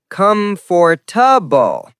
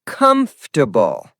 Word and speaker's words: comfortable: Wrong is comfortable. Correct is comfortable.